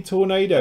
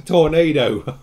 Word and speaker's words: Tornado: for anything at all I think it's pronounced the same as you say the weather yeah effect and if